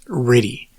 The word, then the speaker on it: RTTY: the computer was something called rtty or pronounced ready this is radio tell